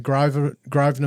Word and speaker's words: Grosvenor: We're going to go through the fire at the Grosvenor mine for Anglo.